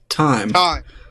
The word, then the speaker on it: thyme: Time. So it's time, even though it's spelled like THYME? Yeah, the H is silent. We've talked about this in 2 weeks ago we have silent never letters.